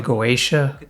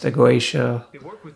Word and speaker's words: Goetia: criticizing and attacking us for mispronouncing the goaa but it is pronounced the guaa people such as Steven Skinner who's highly respected who's written books on the guaa pronounces it The Gua so I don't know